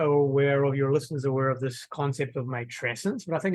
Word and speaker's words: matrescence: So matrescence came out of anthropology, but it's the describing of becoming a mother, and it rhymes with adolescence because it's meant, that's done at purpose.